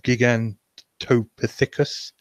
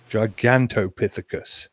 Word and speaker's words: Gigantopithecus: It touches on the possible origins of Bigfoot as a relative of Gigantopithecus. I really should know how to pronounce that. Or Gigantopithecus? Gigantopithecus.